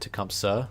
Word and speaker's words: Tecumseh: I used to pronounce it Tecumseh, like S-U-H, but the H is silent. Which, to be fair, it is pronounced Tecumseh in other dialects, in other portions of the nation, so.